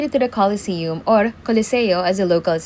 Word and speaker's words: Colosseo: I just made it to the Colosseum or Colosseo as the locals say.